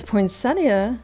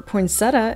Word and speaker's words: poinsettia: This poinsettia, or poinsettia, as a viewer has pointed out, that's the correct pronunciation, $22 for this serving bowl.